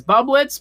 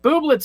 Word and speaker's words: Bublitz: birth name um but because of the way my last name is spelt it's often it often gets pronounced as bublets but whether you pronounce it booblets or bublets i look like how my name sounds and i'm a junior